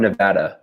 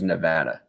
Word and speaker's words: Nevada: not Illinois Illinois every everyone says everyone in from Nevada where I'm from says Nevada but every politician that comes are like what up Nevada and we're like no no I reckon oh yeah